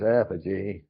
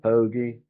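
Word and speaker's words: apogee: He could never pronounce apoge. He called it pogy.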